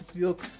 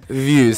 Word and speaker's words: VieuX: For all of you other stubborn individuals, it's VieuX, but it's VieuX. VieuX. Say it like a nice, sexy, you know.